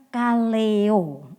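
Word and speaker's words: καλέω: Nah jadi dipilih dalam bahasa yunaninya dikatakan Kaleyo gampang banget ya Kaleyo jadi pengucapan bahasa Yunani dengan bahasa Indonesia itu enggak beda Kaleyo gitu ya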